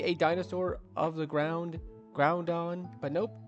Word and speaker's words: Groudon: But yeah, I like Groudon, honestly, I've actually been mispronouncing it pretty much my entire time when I was a kid. I always thought it was pronounced Groundon, because it's a ground type. It's the dawn of the ground.